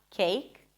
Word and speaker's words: cake: So the first k sound was a regular k, cake. The second one was aspirated, as you should pronounce it in English, cake. So it feels like there is a little H right after the k sound.